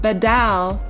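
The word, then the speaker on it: בָּדַל: the word separated is Strong's H914, and it's pronounced badal, and it means to separate, to divide, to set apart, to make a distinction.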